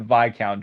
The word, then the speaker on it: Viscount: The Great Bear, or should I say Viscount Churchill, became a highly respected locomotive after he was rebuilt into a castle, which has actually since been redconed. Yeah. Also, you pronounce it Viccount Churchill, you Vouch.